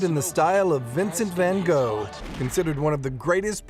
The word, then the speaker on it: van Gogh: needs a little explanation in the u.s. we call in Vincent van Gogh but in England they say van gock when they talk about the artist no matter how you